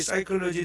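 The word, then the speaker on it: psychology: 정신 혼 혼 영어에 사이콜로지 아는 말이 있습니다이 사이콜로지 아는 말에 그 영어 스펠링 보면에서 시작해요 그러니까 여기 psc h y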